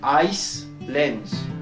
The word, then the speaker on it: Iceland: Donc Iceland.